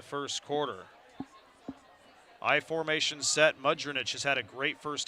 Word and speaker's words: Mudrinich: Pardon me, Mudrinich. I've been mispronouncing his name there. 2nd and 1 coming up as Mudrinich gets 9 more.